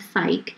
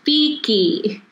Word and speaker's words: Fike: When he would come to my simple name of Fike, he would always mispronounce the name as Feeky. My response to him was, "It's Fike, like bike."